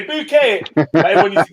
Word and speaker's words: Bucket: up Keeping Up Appearances bucket bouquet she used to say bouquet everyone used to pronounce